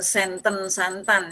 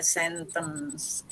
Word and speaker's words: sentence: Jadi imperatif grogi Bu, ada mendesisnya ya, bukan santan ya, sentence.